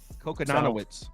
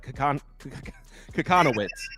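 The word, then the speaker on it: Kochanowicz: I can't even pronounce his last name. Kokonanowicz. Kokonanowicz? Kokonanowicz. It's hard. No, I got it. Kokonowicz.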